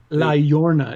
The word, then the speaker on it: La Llorona: La Llorona is how it's yeah, pronounced.